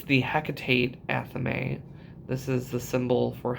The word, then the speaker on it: athame: And when you look at the word, I always said Athames. I don't know why, Athames, because I'm terrible at pronouncing words. I don't know if it actually looks like Athame or I just am really, really bad at reading. But it's an Athame.